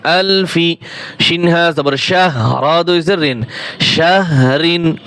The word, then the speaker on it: شهر: শিনহা জবর শাহ, রা দুই জের রিন, শাহরিন। ওয়াকফ করলে রিন হবে না, শুধু র সাকিন হইলে যেভাবে উচ্চারণ হয়। শাহর, শাহর।